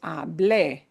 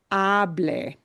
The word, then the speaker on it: hablé: This verb hablé has to be pronounced with a punch at the end. You cannot pronounce it this way. I'm going to say this word. Hable. Hable, punching the ah sound, will not be the preterite form.